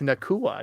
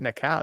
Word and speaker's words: Nua: Yeah, it's Nua, not Nao. It's like It's like uh cacao like the chocolate.